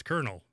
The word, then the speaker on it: colonel: yeah and i'm like it's kernel but where's the r that is the best question because the only thing that i can think of is that the pronunciation of the word is incorrect and it is actually supposed to be pronounced connell carnal oh that's probably true